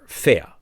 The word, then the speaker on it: ver: is v e r fair v e r prime written ver pronounced in german fair fair settle fair means